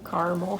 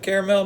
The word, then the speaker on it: caramel: Caramel, Or caramel, however you want to pronounce it. looks like caramel to me. I'm just saying. Some people pronounce it caramel. Some say caramel.